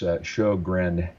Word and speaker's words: Sjogren: And it's not that difficult to pronounce, but it looks completely different. It's Sjogren.